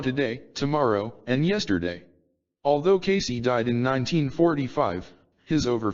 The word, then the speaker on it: Cayce: discussed in part three Casey pronounced Casey had The Uncanny ability